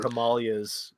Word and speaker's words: Himalayas: Or Himalayas, if you're really smart. That's how you say it.